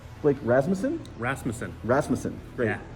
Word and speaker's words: Rasmussen: close as you can get I've had it butchered many different ways yeah Rasmussen yeah uh so uh so Blake uh we're here in Philadelphia uh at Magic 30.